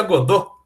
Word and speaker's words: Godot: legal também na verdade eu falo godot mas se pronuncia acordou mas acho estranho de falar então vou falar errado mesmo tá mas o correto